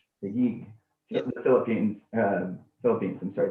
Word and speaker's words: Taguig: the slums of, I'm sorry, could you please pronounce that for me, since I'm going to murder it? Taguig. Taguig.